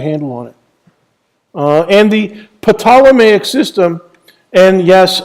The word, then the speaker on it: Ptolemaic: on it and the Potala Mayock system and yes i'm pronouncing the silent P in Ptolemaic the Potala mag system named after the